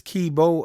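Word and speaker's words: Keybeaux: song called ricochet and the artist's name is kibo again that is spelled k-e-y b-e-a u x man that was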